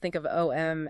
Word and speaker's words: Om: So when you chant OM, you aren't just making one sound. No, not at all. You are generating 3 distinct consecutive sounds. Yeah. A, U, and M.